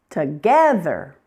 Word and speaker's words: together: Together. Second syllable.